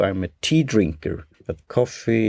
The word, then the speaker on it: Ko-fi: At coffee, as you know, I'm a tea drinker, but coffee is spelled Kofi, and there you could donate similar to Patreon on a regular basis and one time.